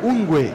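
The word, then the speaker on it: ungwe: NG e depois o ungue que é o ngw assim como no no q o ngw ele sempre tem a pronúncia desse w com o som de u e o anga significa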